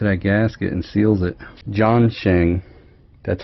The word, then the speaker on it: Zongshen: way up to that gasket and seals it John Chang that's how you pronounce it John Chang thanks taco that's how